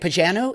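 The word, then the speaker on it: Pjanoo: how you say it pajano is how you pronounce that song pajano eric prince right he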